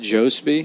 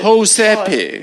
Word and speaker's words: Jospe: Is that how you pronounce it? Jospe? No. Just It's a- Josepe. Yes, that's Josepe. correct. Yeah, no, I say Jospe, but it's like It's Jose with a Jospe. P in there.